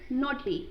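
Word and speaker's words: knotty: Next word is नॉटी। यहाँ पे भी के जो है वो साइलेंट होगा, तो इसको कहेंगे क्या, नॉटी।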